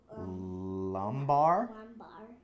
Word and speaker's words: lumbar: Low back rhymes with, or sounds like... Lumbar.